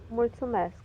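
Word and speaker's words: mulțumesc: how do you say thank you in Romanian mul mask if you want to say it in formal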